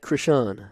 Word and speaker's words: Christian: It is uh Krishawn Keylor, spelled like Christian, said like Krishawn, I believe.